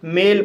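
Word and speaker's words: male: एम को मा पढ़ा जाएगा, ए को ए पढ़ा जाएगा, एल को ला पढ़ा जाएगा और ई साइलेंट रहेगा। इस तरह से मेल पढ़ा जाएगा और मेल मीन्स पुरुष।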